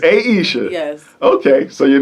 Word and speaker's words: Ayesha: It is Ayesha. It's Ayesha. Yes. Okay, so your name was mispronounced growing up?